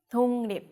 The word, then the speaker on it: 독립: The 기역 becomes a 이응. So 독립 becomes 독립. 독립. Okay, this is the last example of the lesson.